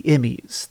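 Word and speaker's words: E.M.M.I.: this for one main reason which is the emmys that is spelled e-m-m-i and it's basically this acronym that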